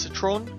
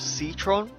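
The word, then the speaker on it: C'tron: First of all, according to Steam, it's probably pronounced Citron, not Citron. I don't care.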